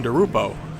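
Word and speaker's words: DiRupo: Now Marianne DeRupa up here on lane 15, looking to go back to back. Marianne DeRupo. Didn't realize I was saying it wrong there.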